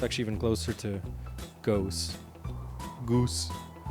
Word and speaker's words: Goes: It's actually even closer to Goes. Goose. I know in English it's pronounced goes, but in Dutch it's goose, I think. Or maybe goes. The G is quite brusque.